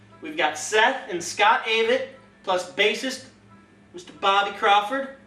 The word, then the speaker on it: Avett: about it's pretty neat Aid rhymes with Aid rhymes with David David the extra except it's a v TT the a it brothers and uh three threepiece band kind of